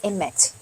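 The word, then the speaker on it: אמת: Em hebreu, a palavra verdade, ela é emet, E-M-E-T, do jeitinho que está aí escrito.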